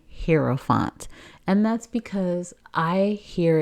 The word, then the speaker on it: Hierophant: But just so that I wouldn't look ignorant out here, I actually looked it up, and it's supposed to be pronounced Hierophant. Hierophant.